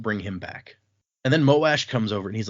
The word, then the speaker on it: Moash: I thanks, I guess, Moash. Appreciate it. I I I heard some debate about whether it's pronounced Moash or Mosh, and I was just like, I can't imagine saying Mosh Mosh.